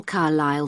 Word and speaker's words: Carlisle: Could you spell Carlisle for me? Sorry. It's Carlisle. You don't pronounce the S.